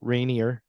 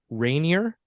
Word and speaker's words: Rainier: put the uh emphasis is it on Rainier or is it Rainier be like right near right near second syllable okay yeah I gotta